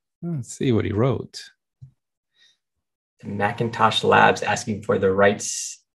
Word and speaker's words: Macintosh: was phonetically identical okay so it was spelled m-c-i-n-t-o-s-h but it was pronounced macintosh got it and so